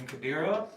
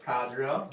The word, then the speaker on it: Kadira: And I am playing Kadira, or Kadria, if you want to pronounce it wrong.